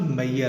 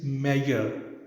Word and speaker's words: measure: You need to understand that it is actually ya sound, measure. This word is not mayor, it is measure, actually measure.